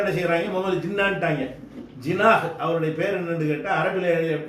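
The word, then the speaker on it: Jinnah: அவருடைய பேர் வந்து உருதுக்காரன் வந்து ஜின்னான்னு சொல்ல மாட்டான், முகமது அலி ஜினாஹ். அவருடைய பேர் ஜினாஹ்ன்று இருந்ததை இவங்களுக்கு அந்த வார்த்தையை உச்சரிக்க தெரியாமல் என்ன பண்ணிட்டாங்க, ஜின்னாண்டு ஆக்கி விட்டாங்க.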